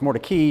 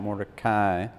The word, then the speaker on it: Mordecai: It's Mordecai, not Mordecai officially. In fact, there's a phone right behind us that tells us the actual way to pronounce it correctly.